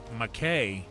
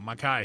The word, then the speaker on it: Mackay: I know when I first met Mackay, I was calling him McKay until I saw the thumbnail that he made where he made it an eyeball, so you could tell that it was I-E-Y-E pronounced.